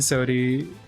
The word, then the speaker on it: Sodi: pronounced that way. What the heck? Effie. It's Effie and Sodi.